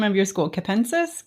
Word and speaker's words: Capensis: Capensis. Capensis. H thank you very much. And yeah, that is correct. It is capentus.